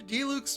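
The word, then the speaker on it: Diluc: rarely at the winery finally we get him to say it right Master D Luke's brother I've been right okay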